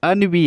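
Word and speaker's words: ennui: इसे एनवी मत पढ़ना। AE उसकी स्पेलिंग होती है ENVY, एनवी। इसका मतलब क्या होता है? ईर्ष्या को कहा जाता है एनवी, लेकिन ये क्या है? अनवी है। तो ध्यान रखना, ये अनवी है और वो क्या है, एनवी है।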